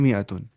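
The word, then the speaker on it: مائة: क्या होता है 100 लिखते हैं मातुन लेकिन पढ़ते हैं मियातुन यहां पे अल साइलेंट होता है ठीक है मियातन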